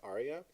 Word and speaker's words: aria: an area what's an area okay that word just pronounce aria and it's standard in Opera we're gonna find one